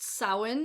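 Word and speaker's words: Samhain: will work for both the next one is pronounced sowin and this is basically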